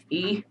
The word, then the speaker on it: y: E. By the way, if you haven't already understood that Y sounds like E, and we all know that Y means hand.